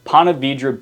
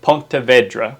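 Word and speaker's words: Ponte Vedra: Another one, Panavidra Beach. If you call it Ponta Vedra, which is probably the correct way to say it, people will know that you're not from here, right?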